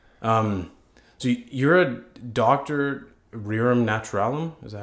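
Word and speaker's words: rerum naturalium: Alex yeah okay um so you're a doctor rearam naturalum is that how you pronounce yeah exactly that's Latin yeah and I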